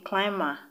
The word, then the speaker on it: climber: be silent for example the b in climber c l c-l-i-m-b-e-r is still silent the b in plume